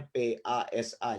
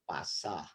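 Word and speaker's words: πασα: Ini kan gampang, ini kan P, terus ini alfa. Kemudian ini ada sigma, ini S. Nih, kalau begini S. Ini alfa A. Jadi kan bacanya PASA, jadi pasah.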